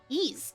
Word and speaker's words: Ys: YS, pronounced like geese without the G. Oh, Ease.